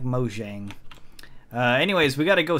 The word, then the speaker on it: Mojang: It's pronounced Mojang, but I like Mojang.